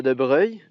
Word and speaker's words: de Broglie: en de Brogli mais ils ont gardé une espèce de prononciation plus italienne don de Breuil un